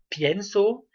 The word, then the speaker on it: pienso: savoir que l'accent tonique, par exemple si je dis pienso, l'accent tonique est toujours sur, toujours sauf à nous et à vous, toujours sur la voyelle du radical.